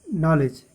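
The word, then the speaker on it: knowledge: के silent, knock, night, नॉलेज, के silent.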